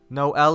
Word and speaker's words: Noelle: No L is here. The 9-year-old girl puts an emphasis on the 2 syllables of my name, laughing.